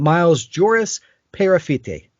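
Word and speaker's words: Miles Joris-Peyrafitte: But Miles Joris Perafite, I believe is how you say his name.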